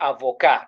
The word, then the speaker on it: avocat: So we say avoca. You get it. Now, do you understand why T is not pronounced? Yeah. We said a consonant is generally pronounced unless there is a vowel after it. So it means that word is avoca. Avoca.